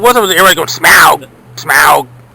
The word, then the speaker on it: Smaug: talking about the dragon, they were pronouncing it Smaug, not Smaug, and everybody's like, and now Now it's like everybody's saying Smaug. You just because it's spelled that way doesn't mean it's said that way.